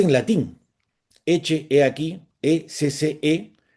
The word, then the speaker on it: ecce: O sea, es la frase en latín, ecce, he aquí, E-C-C-E, que muchas veces cuando la gente lo lee en castellano, que le dicen exe, pero la pronunciación en latín suena como una che, ecce homo, he aquí el hombre, aquí tienen al hombre.